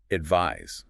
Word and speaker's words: advise: Well, advise with the s ag v i s e has that voiced z sound at the end.